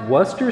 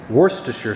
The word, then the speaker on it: Worcestershire: You guys told me this is pronounced Worcester sauce. I guess that's what they call it in the UK. My dad always called it Worcestershire sauce.